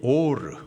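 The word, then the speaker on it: עולה: 황비용 학원 하여튼 하여튼 번제 히브리식 발음이 오르 오르 뜻은 오르다 올라간다라는 뜻이에요.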